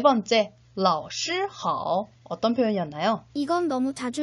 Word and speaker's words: 老师好: 老师好 라고 표현을 하죠. 역시 다시 한번 한어병음 기억하면서 3번씩 발음해 보도록 하겠습니다.